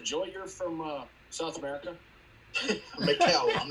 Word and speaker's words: Michel: Is it Michael or Michelle? It's Michel. How do you pronounce that, Joey? You're from South America? Mikel.